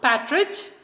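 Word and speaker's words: partridge: though it is pronounced Patridge the R is silent so I haven't mentioned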